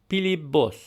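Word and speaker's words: Փիլիպոս: So here we have the name Pilibos, which translates to Philip. Now notice here how in the name Philip, it ends with a P sound, but in the Western Armenian pronunciation we use a B sound.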